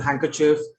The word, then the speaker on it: handkerchief: Okay, and there are some random words also that have the D silent. For example, handkerchief, handsome, sandwich.